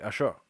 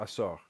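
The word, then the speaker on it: עשור: Ashor. Oh, is it Ashor? Asor. It's not on the shore. It's on the seaside.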